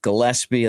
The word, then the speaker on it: Gillespie: type of stuff uh my name's pronounced Gillespie I think most people know that uh I showed my